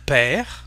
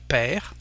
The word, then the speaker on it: père: Un père, a father, R, as you can see, and we don't pronounce the final E, so we have père.